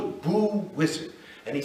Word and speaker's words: Osiris: as Muhammad said and he pronounced it always as wizard not osar not usar not noar wizard is how he pronounced it and he said